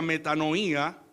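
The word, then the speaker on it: μετάνοια: En términos hebreos significa cambiar, pero también en griego proviene arrepentimiento de una palabra que se pronuncia metanoía, que captura la esencia del arrepentimiento bíblico, que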